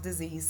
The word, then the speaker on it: dis-ease: our journey is pronounced disease, so it can be scary and spooky. We live in the Americas. But the word is actually pronounced dis-ease.